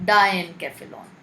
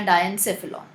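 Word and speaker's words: diencephalon: दूसरा वाला होता है डायनकेफेलॉन या डायनसेफेलॉन, जो भी प्रोनाउंस करें उसको.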